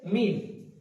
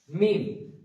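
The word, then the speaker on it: ميم: তো তারপর আসছে মিম। এখানে মিম। মিম একদম সোজা মিম দুটো ঠুট একসাথে মিলিত হবে। মিম এবং লাস্ট আবার একবার মিলে যাবে। প্রথমে মিলে থাকবে মিম।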